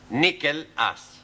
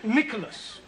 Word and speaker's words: Nicholas: upon a time there was a man called nickel us once upon a time there was a woman called nickel it's pronounced Nicholas sorry once upon a time there was a